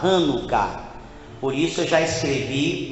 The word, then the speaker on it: Hanukkah: Então a gente não fala Chanukah, a gente fala Hanukkah.